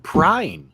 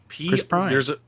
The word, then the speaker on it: Chris Pine: I thought what they did with the Chris Pine Star Trek series was actually really smart. Why do you keep saying Prine? It's That's his Pine. fucking name, No, man. it's That's Chris why. Prine. Chris Pine.